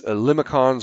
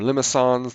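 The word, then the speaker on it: limaçon: There's these limicons or limicons, depending on how pretentious you are and how you want to pronounce it.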